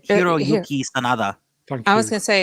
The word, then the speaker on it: Hiroyuki Sanada: Connected with Shogun, Hiroku Sanada wants to be in a Star Wars project. Of course he does. Bloody hell. That's not how you say it. You say Hiroyuki Sanada.